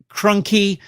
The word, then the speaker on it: Crunky: us by guest artist Andrew Crunky, rhymes with donkey, and new cover artist Lee Weeks.